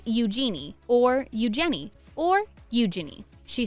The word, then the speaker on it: Eugenie: She said in her interview with The Telegraph in 2008, the easiest way to remember it is how it sounds like you're saying the phrase, use your knee.